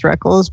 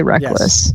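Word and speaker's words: Rekkles: is he's even acknowledged the proper pronunciation is reckles but he just prefers people say reckless so yeah I always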